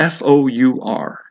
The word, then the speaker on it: four: f o u or f o u r okay this is the number four okay but it's pronounced exactly the same way as the word f o r which you've already learned